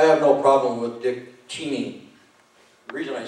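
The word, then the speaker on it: Cheney: thank you I have no problem with dick teeny the reason I say CH is because that's the way it's supposed to pronounced no nobody ever pronounces it that way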